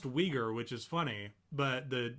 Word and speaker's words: Uyghur: I had to make sure because I didn't want to pronounce it Uyghur and be wrong, but that's what it looks like. But it's Uyghur. It's Uyghur.